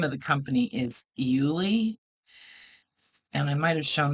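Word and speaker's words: Iuile: the um the name of the company is euli and I might have shown this to you guys before but that's how it's spelled i u i l e and she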